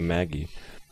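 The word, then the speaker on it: Magi: we left off of the Canon of the Maji or Ma how do you wait can correct me how do you say yeah there you go it's Canon of the Maggie yeah so we're going to go kill uh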